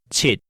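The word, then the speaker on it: 七: 6 is pronounced lak. Yes, lak. And 7 is called chit.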